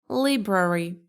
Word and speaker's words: library: How do you pronounce this one? Library.